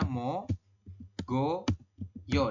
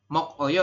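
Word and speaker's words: 먹어요: Misalkan Anda membacanya adalah mo, ya, kemudian go, kemudian yo. Seperti ini ya. Jadi Anda membacanya mogoyo seperti itu. Ini kan tulisannya mok oyo ya. Tapi Anda membaca yang benar adalah mogoyo seperti ini.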